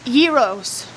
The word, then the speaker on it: gyros: it's a g no it's not it's a Euros Euros Euros that's how it's pronounced Euros Google translate says gyros gyros but some people say what's the other